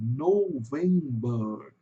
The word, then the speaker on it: November: November. November. Então o November em inglês vai ter um som de o U entre o O e o V. Aqui vai ter porque é uma vogal longa. November.